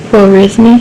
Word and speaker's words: Khwarizmi: How do you pronounce his own name? Khwarizmi, yeah.